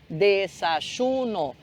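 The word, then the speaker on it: desayuno: café da manhã então como é que é café da manhã no espanhol dessa shuno E aí esse J que a gente fala shuno na realidade é o y de novo né aquele mesmo fenômeno do do Y que tem som de J para você que é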